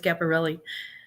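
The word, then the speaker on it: Schiaparelli: Ronnie says woohoo scaparelli no and it's not spelled like that but yeah that's fine that's funny it's not scaparelli's capparelli that'd be really funny though I actually uh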